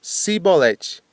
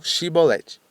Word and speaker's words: chibolete: Os eframitas, efimitas, por seu sotaque, pronunciavam cibolete e não xibolete.